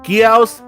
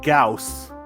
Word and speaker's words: Gyaos: So what are both pronunciations? Just so people are listening. Gyaos and Gauss.